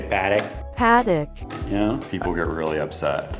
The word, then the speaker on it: Patek: The right way to say it is Patek because Patek. Swiss French, or even in German, you would say the A like an A.